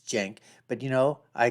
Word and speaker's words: Cenk: to tell sank and I know how the name is pronounced it's Jank but you know I call him sync anyways from The Young